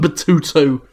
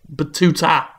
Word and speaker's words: Battuta: called Unearthed trail of ibben batutu batuta batuta I'm sorry I said it wrong the first time how are you all